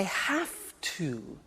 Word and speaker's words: have to: I have to. Notice I don't say V, I say F. Have. It becomes have to. Have to becomes in pronunciation have to.